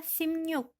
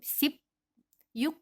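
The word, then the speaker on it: 십육: ya pengucapannya yaitu 16 dibacanya simnyuk jadi di bawahnya bukan seperti BAP ketika pengucapan bukan seperti sip yuk bukan seperti itu tapikan kan yang di bawahnya itu menjadi miem dan yang di atas ini menjadi niion jadi bacanya simnyuk selanjutnya untuk puluhan ini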